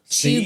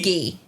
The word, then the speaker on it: cheugy: It's spelled CHEUGY. Cheugy.